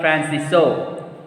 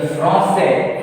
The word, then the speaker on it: français: Je parle français. France. Je parle French. French. So French we have to say like this. See here, français.